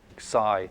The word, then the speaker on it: psi: this one right so that's Sai there's a little s in there oh like like that that's that's PSI this one is chsi or something like it's kind of pronounced like that Sai it's it's a little